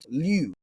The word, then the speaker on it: λυ: Now, this isn't pronounced the same way as the Greek root we did in the previous episode for Greek vocabulary, which was lu, lambda omicron upsilon, where it's got that omicron upsilon vowel pair, right?